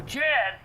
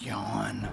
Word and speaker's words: Jan: Now Jan is worse. He plays stuff that's so offthe-wall they wonder why they get no ratings. It's pronounced yawn.